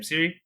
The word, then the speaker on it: Ciri: That's her name, Ciri. I'm just Yep. pronouncing it. Siri.